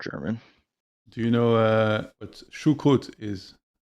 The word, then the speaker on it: Choucroute: How do you pronounce it again? Choucroute Choucroute?